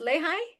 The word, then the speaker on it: Lehigh: And is it pronounced Lehi? Lehi Valley. The Lehigh Valley in Pennsylvania.